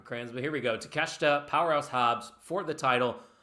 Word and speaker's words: Takeshita: You don't know how to pronounce Takeshita, so I don't want to. Takeshita. Kenosuke Takeshita. You're adding another syllable.